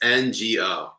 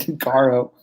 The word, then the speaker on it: Ngo: And See, I thought, doesn't he have an R in it? N-R-G-O? It's Ngo. I don't know where I've been seeing an R, but I thought it was N-R-G-O.